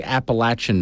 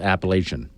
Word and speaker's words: Appalachian: I'm in the mountains you better say Appalachian Mountain not Appalachian they know they know no